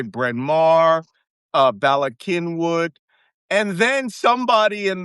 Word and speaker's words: Bryn Mawr: Like places we would say Bryn Mawr, Ballackinwood. And then somebody in the 2000s was like, you're pronouncing all those names wrong, right?